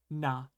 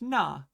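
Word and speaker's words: な: This one is just perfectly straightforward with nothing weird, no weird pronunciations, nothing. Just ordinary. Okay? So we're going to start with na. This is na.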